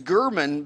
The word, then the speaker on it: German: So your name is Gurman, but it's spelled like German.